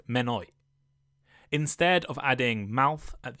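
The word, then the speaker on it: Mynwy: In Welsh, Monnow is pronounced Menoi.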